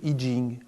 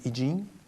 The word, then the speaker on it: I Ching: Au départ, le I Ching ou I Ching, on prononce l'un ou l'autre, les Chinois disent I Ching, qui est le livre chinois des changements.